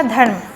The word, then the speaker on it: धर्म: उच्चारण करोगे धर्म, तो ध पूरा है, यानी व्यंजन पहले वाला व्यंजन पूरा है, और म ये भी पूरा है, बीच में आधा र है, धर्म।